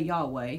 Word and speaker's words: Yahweh: And there again, that word Lord is that name that we're not quite sure how to pronounce, but we say Yahweh, so I am Yahweh.